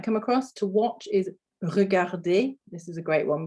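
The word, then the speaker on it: regarder: common verbs in french er verbs er on the end we we don't pronounce it with this sound okay i think that'll be quite hard at the end of the word um so it's actually an a sounds er is actually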